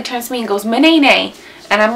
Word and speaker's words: Manaynay: Manaynay. That's how it's pronounced, guys. Manaynay. Manaynay.